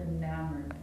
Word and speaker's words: enamored: The emphasis on the second syllable, enamored.